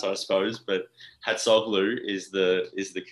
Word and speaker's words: Hatzoglou: I mean, look, it's a difficult one to pronounce, I suppose, but Hatzoglou is the correct pronunciation.